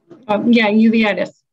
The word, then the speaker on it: uveitis: Berkenstock, how do you pronounce that word? Uveitis? Uveitis.